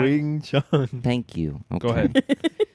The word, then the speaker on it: Wing Chun: Shut the up with the Wang Chong, Say it right. Wang Chong. Wing Chun.